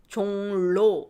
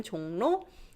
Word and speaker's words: 종로: When you read this, 종로 is hard.